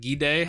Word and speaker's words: Gide: It's spelled like guide, but Gide, however they said that.